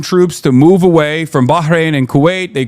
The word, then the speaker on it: Bahrain: And no, if he's saying not like Bahrain or something in English, no, you need to say it like in Arabic, like Bahrain, or you hear like,